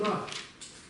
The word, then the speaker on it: ར: Язык загибается вот так, смотрите, к небу. И произносится так. Ра. Ра.